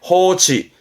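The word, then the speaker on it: 放置: 방자 했던 겁니다. 방치하다, 내버려두는 방치에 호치.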